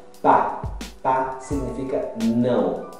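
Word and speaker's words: pas: Pa. Pa significa não. Em alguns casos, você não pronuncia o S, tá?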